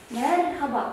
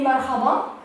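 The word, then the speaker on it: merhaba: Мерхаба. Вот обратите внимание. H, то есть х, как в татарском языке хейкель произносится мягко. Х. Мерхаба. Не мархаба, а мерхаба.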